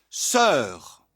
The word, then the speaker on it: sœur: En ancien français par exemple, on prononçait et l'on écrivait saour issu du latin sorore. À la fin du Moyen-Âge, ces diftong se sont réduites en voyelle simples. On a prononcé sœur.